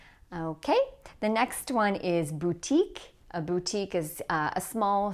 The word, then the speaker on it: boutique: Okay, the next one is boutique. A boutique is a small shop, usually that sells like special items. A boutique. Like the French pronunciation, this is going to have stress on the second syllable, boutique.